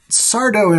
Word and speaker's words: Sardo: Sardo, no Mr. Accent on the dough.